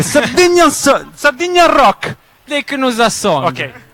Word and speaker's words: Sardigna: Il prossimo pezzo parla di Sardegna e si chiama Sardigna Rock, però pronunciato in sardo, io non sono sardo. Dei Knusasso. No, aspetta, ce l'avevamo preparata a casa. È Sardigna Rock.